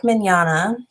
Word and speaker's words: Mignogna: the situation a popular anime voice actor vic Mignogna that's how you say his name fighters but